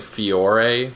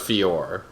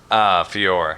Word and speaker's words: Fiore: I'm not sure about you, but I've been saying Fiore for the one angel. It's just Fiore. Fiore. Yeah, the E is silent, apparently.